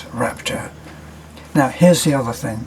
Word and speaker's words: Raptor: Now, when you go from that and you climb up and into a Ford Raptor, here's a funny little aside. Beth mispronounces Raptor as Rapture, and I gotta say that when I sat